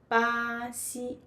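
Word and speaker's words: Brasil: Yeah, we say Baxi Baxi Yeah, I forgot to ask my friend to introduce herself.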